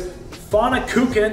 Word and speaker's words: Pfannkuchen: I have this pfannkuchen, yes, that is the proper pronunciation. I had to practice that one a few times, which is essentially a giant apple pancake.